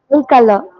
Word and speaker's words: tricolor: Tricolor. It's tricolor, not tricolor. Okay, try னு தான் pronounce பண்ணணும். Tricolor. Okay.